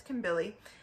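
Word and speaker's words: Kambili: interesting because in kimberly i'm sorry i mispronounced it before it's kim billy in kimberly's father's role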